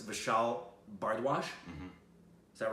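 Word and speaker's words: Vishal Bhardwaj: me about the director, which I hope I pronounce his name right. It's Vishal Bardwaj.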